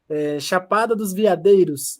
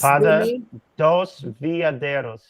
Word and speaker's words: Chapada dos Veadeiros: You say, Winfield, Chapada dos Veadeiros is the pronunciation in Brazilian. And it's Chapada dos Veadeiros.